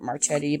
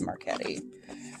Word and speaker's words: Marchetti: look it up and i always pronounce it marchetti but it is marquetti um kind of magnetic